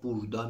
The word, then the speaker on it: burada: "چِکتلر بورادا"؛ دوباره، اینجا «burada» می‌نویسند، اما در محاوره، «burda» می‌شنوید. مراقب باشید، این «ا» را در محاوره تلفظ نمی‌کنند؛ instead of "burada" they say "burda," instead of "buyurun" they say "buyrun"; چرا؟